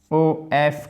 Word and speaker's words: of: Ici, ça se prononce toujours, souvenez-vous, O-F comme ça, of, O-2-F, off.